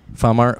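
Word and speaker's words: Phamer: way okay yeah it's spelled p-h-a-m-e-r like Famer farmer Farmer farmer but it's pronounced farmer okay fancy Tolbert and Bud killed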